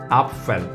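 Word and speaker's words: Apfel: get started and first one is a is pronounced as a and the word we use it is our fell after means apple up fell nice next one we have it's this one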